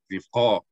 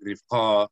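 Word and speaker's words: רִבְקָה: Rivqa. Okay. You understand? Yeah. Okay, so why are we saying rifqa and not rivqa? Because ta'am is over the syllable.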